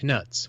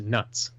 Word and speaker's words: Knut: Dale reading these stories, I called them knuts while I was working. I was quickly corrected by my coworkers, and Sir, the animatronic goblin in charge of the money exchange, that they are pronounced as nuts.